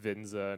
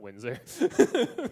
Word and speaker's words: Windsor: when we're reminded that it's pronounced vinza not Windsor it was a very